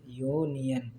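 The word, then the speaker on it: union: तो अब यूनियन का भी प्रोनाउंसिएशन कैसे हो रहा है? या से, यूनियन।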